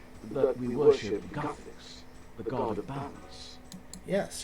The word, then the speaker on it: Guthix: Oh, it's pronounced Guthix? I thought it was Guthix.